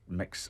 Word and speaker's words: Mx: local and they include MX which is pronounced mix or Max which covers